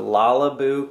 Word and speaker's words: Lalabu: cool carrier it's the lalaboo carrier in the what color it's actually like so the brand is lalaboo but literally it's called la la boo like character but it's spelled with